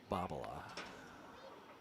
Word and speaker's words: Bobola: So, his his proper pronunciation of his last name is Joe Babala.